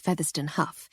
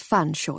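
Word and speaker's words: Featherstonhaugh: I made my usual point of mispronouncing it as Featherston Huff, which in turn drew his usual raised eyebrow and slightly sad smile. "It's fun, Shaw, you silly girl, as you very well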